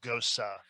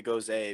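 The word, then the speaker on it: Gose: and fancy you say goes a because america well because it rhymes with rose and people just don't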